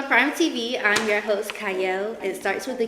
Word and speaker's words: Qiayel: y'all welcome to Prime TV I'm your host cyle it starts with a q but it is pronounced CLE and today I have an amazing guest with